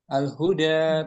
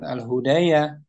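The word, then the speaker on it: الهدى: Dan yang menjadi acuannya suara suara kita al-huda tuh bukan al-hudaya bacanya.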